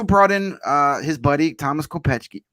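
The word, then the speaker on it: Kopecký: in his buddy Thomas Kopechki. Kopechki. I always say it wrong. I always just want to call him Kopecky. I want to pronounce it like it's spelled.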